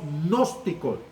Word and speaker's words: gnóstico: Un grupo de maestros falsos eran los gnósticos. Se pronuncia gnóstico, ¿va?